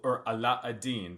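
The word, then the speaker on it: علاء الدين: Aladdin and his wonderful Aladin that's how the Arabic pronunciation and his wonderful lamp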